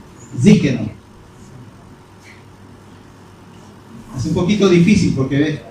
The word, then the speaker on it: Tzidkenu: ¿Cómo se pronuncia? Tzidkenu.